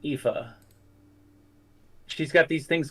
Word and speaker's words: Aoife: It's Aoife, something like that. But it's pronounced Aoife.